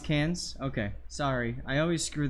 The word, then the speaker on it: Cairns: It's pronounced Cans?